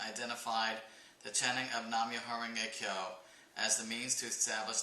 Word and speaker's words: Myoho-renge-kyo: hua ting and Japanese these Chinese characters are pronounced myoho renge Kyo know if you guys